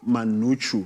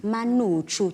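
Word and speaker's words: umngqusho: So how do you pronounce that? Manuchu. Manuchu.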